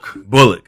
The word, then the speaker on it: Bullock: Help me pronounce his last name. Bullock, yes.